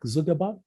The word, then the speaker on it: Zuckerberg: his surname gives me some trouble sometimes to pronounce. Mark Zuckerberg, is it? Zuckerberg, yeah.